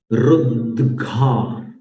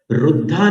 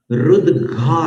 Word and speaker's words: रुद्घा: अब यहां ध्यान देना, संतान कादि कुसुमोत्कर वृष्टि रुद्घा। घर वाला घ बोलना है, धन वाला ध नहीं बोलना। रुद्धा नहीं है, रुद्घा है।